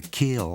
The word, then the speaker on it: kiln: It's spelt kiln, but we just call it the kill down here in Ole Miss.